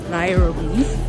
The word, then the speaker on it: Nairobi: Depends whether you're speaking Swahili or you're speaking English. Oh, okay. So English you say Nairobi, then in Nairobi, Swahili. Nairobi, yeah.